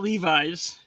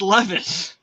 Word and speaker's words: Levis: touchdowns in his debut it's not Levis it's Levis it's oh yeah yeah